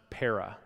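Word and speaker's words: παρά: is a small little Greek word that's pronounced para and para can mean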